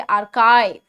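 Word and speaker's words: archive: जैसे स्काई है ना, ऐसे आर्काइव.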